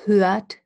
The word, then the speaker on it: hört: Sie hört gut zu. I don't pronounce this R.